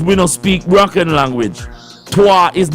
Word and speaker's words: Twi: Twa is not a broken language. They call it patois, but it's twa or twi is the pronunciation of the word.